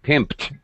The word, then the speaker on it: pimped: pimped my right okay so fine pimped it's gonna have a t sound okay nap nap um